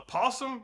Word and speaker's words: opossum: First, we got this thing called a possum, although it's spelled opossum, but the O is silent because English.